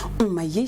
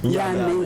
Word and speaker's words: Yamé: Alors, c'est vrai qu'en 2016, tu as commencé, tu as fait vibrer le monde entier avec le titre Omaye, je prononce bien. Yamé, voilà.